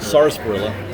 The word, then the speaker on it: sarsaparilla: is, first of all, spelled with an R. So they did spell it right. Sarsaparilla.